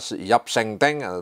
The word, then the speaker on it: Yap Sinting: Ini khususnya dia menganalisis tentang eksistensi atau keberadaan dari Yap Sengteng, ya, Yap Sengteng, tulisannya itu Yap Sinting, bacanya Yap Sengteng, kemudian Rai Reguk dan Gusti Deblok.